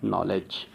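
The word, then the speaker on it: knowledge: उसके बाद नेक्स्ट जो डी और जी का कॉम्बिनेशन नहीं बनेगा कभी भी, तो यहाँ पर क्या होगा, डी क्या हो जाएगा, साइलेंट, तो यहाँ पर क्या होगा, नॉलेज।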